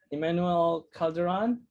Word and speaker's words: Emmanuel Calderon: introduce you to my um artist spotlight person emmanuel calderon uh is that how you how do you pronounce your name it's exactly how you pronounce